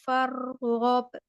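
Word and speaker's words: فارغب: wa ila rabbika farghab Iya, jangan fare, tapi far. wa ila rabbika farghab Iya, fargob.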